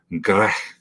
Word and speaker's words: Greh: just solely focused on and I'm going to pronounce this correctly now gre gre gre yes yes it comes from from